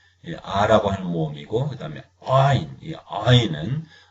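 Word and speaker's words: עין: 하는 모험이고 그다음에 아인이 아인은 많은 사람들이 발음을 못 합니다 그래서 무음 처리해서 알 이렇게 모음만 발음해도 별 이상은 없습니다 마치 우리 말에 우리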